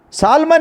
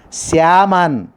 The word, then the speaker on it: salmon: Silent letter is L. The pronunciation is Salman is a wrong pronunciation. We didn't pronounce Salman. We don't utter. Syaman is a right pronunciation. L is a silent, my dear student. It should be pronounced as a Syaman.